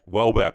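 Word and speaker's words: Houellebecq: Welbeck.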